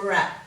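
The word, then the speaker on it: wrap: because it's too hard once upon a time we would have pronounced that w but over time we dropped the w because it was too hard to do the what sound before the uh here for rap were wreath or um so we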